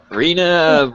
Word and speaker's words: Reena: wrong Reena Reena reaa Reena rhymes with Arena and I think that's